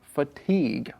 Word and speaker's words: fatigue: e but of course you don't pronounce the UE at the end it sounds just like fatigue right mhm that's right